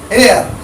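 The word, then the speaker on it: heir: मैंने एक और आगे लिखा है एयर, एयर माने उत्तराधिकारी, तो एन एयर।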